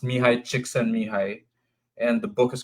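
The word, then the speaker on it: Mihaly Csikszentmihalyi: But it's pronounced Mihai Csikszentmihalyi, and the book is called Flow.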